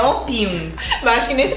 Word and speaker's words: Opium: Mas é engraçado que a gente sempre chamava esse perfume de Optium. Até que eu falei pra Mara, Mara, não tem T. É Opium.